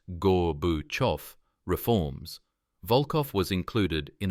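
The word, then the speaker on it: Gorbachev: In 1988, as United States Soviet relations thawed under Gorbachov's pronounced Gore Buof reforms, Vulov was included in a prisoner exchange.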